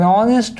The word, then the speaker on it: honest: a historian but an honest man but an honest man an honest man h is not pronounced here h remains silent so an honest man